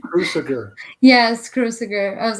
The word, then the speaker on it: Cruciger: Yes, Cruciger.